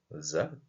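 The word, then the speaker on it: زَ: vous avais dit là ça se prononce simplement za avec le ze que nous avons en français alors que pour la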